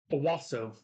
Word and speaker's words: Owasso: not far off okay Owasso Owasso okay swap the a for an O and that's how you pronounce it o-w-a-s-s-o the blossom it